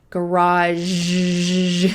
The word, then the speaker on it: garage: Garage. It's almost like a Z, garage sale or a yard sale.